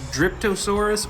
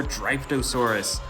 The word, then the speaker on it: Dryptosaurus: I believe it's pronounced Dryptosaurus or Dryptosaurus.